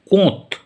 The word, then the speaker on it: Comte: ফরাসি মনীষী অগাস্ট কোঁত, ইংরেজিতে বানানটা আমি বলছি, COMTE, বাংলায় লিখতে গেলে লিখতে হবে অগাস্ট কোঁত।